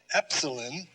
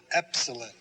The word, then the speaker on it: epsilon: as in the delta epsilon the short e as in let epsilon zita is a z